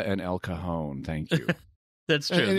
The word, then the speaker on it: El Cajon: San Diego area, and it's La Jolla and El Cajon. It's like, no, La Jolla and El Cajon.